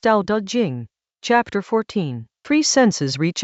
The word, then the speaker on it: Dao De Jing: Tao Te Ching, pronounced Tao Te Ching, chapter 14.